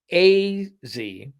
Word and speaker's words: AZ: Also, the young lady's name is AZ with a long A, as in atypical.